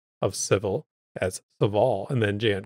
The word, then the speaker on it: Sevil: JN, my lore savior, put out a tweet saying Sevil is pronounced like devil. Just swap the D with an S.